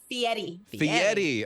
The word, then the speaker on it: Fieri: say guy's last name I always butcher it Fieri okay what was it like meeting him and